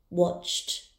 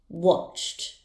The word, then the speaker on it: watched: The verb watch has a sound ending in ch, so the ed ending will be pronounced as t. Watched, watched.